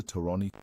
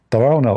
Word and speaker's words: Tarawna: Tarani, Mohammed Tarani's permission. Mohammed Tarone. This The funny Ali Dawah, he do not know how to say the name. Tarawna obviously is a Jordanian name.